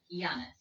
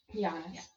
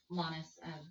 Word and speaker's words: Llanas: Giannis. Giannis. Giannis. Kind of like a basketball player. Yeah. But don't worry if you say Lannis, I'll respond. If you say Lianis, which I've gotten a lot Yeah.